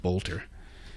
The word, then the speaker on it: Boelter: The suspect is named Vance Luther Bolter. It's spelled B O E L T E R pronounced Bolter.